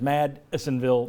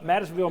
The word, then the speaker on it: Madisonville: you need to go try not to pronounce it as mad assinville marine madisonville marine great no better place to